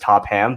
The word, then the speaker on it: Topham: in in mind that my last name is pronounced top ham but you said it 100 correctly so i major kudos to you at least i didn't turn the ph into a first like a topham a a cold topham